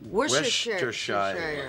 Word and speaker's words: Worcestershire: place mostly known for its sauce and difficult pronunciation. Worcestershire.